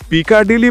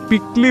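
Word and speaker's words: Piccadilly: আর আমাদের হোটেল যেখানে, সেটার বানান দেখে পিকাডিলি বলতে ইচ্ছা করলেও আপনি যদি পিকলি বলেন, তাহলে ওখানকার সাধারণ লোকে বুঝবে আরো সহজে। পিকলি সার্কাস।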